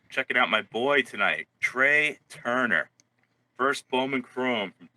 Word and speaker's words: Trea: Is it Trey or Trey? Trey. Well, TREA. I know how to spell it. I'm talking about how to pronounce it.